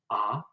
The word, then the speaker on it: ha: You might have noticed that I'm not pronouncing the H when it's at the beginning of the word. And so the H is essentially dropped when we pronounce it at the beginning of the words.